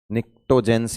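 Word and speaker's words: pnictogens: oxygen family का चलकोजन नाइट्रोजन family का निकटो जेंस या निको जेंस भी बोलते हैं पी से स्टार्ट है ना प साइलेंट सर 11थ वाला पी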